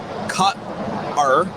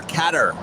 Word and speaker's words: Qatar: It's either cut-er or cat-er. Or various safety videos had both pronunciations.